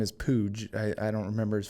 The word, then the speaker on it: Puig: was playing for arizona state his name is pooj i i don't remember his first name like david pooj it's spelled like uh puig yaciel puy david spooch spooch sabudra or pooch sorry yeah